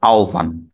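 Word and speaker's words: আহ্বান: শেষে আছে ন ন তাহলে এটির উচ্চারণ হলো আওভান আওভান ঠিক পরবর্তীতে যদি দেখি জি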